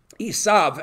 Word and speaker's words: Esav: Esau, okay? Esav, actually, in Hebrew.